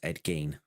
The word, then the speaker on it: Ed Gein: Uh, yeah, it's pronounced Ed Gane.